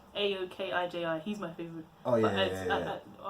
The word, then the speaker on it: Aokiji: I just can't pronounce it. It's Aokiji.